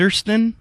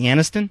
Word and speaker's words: Aniston: by Jennifer Anderson and ersten yeah is that supposed to be Aniston exactly okay who is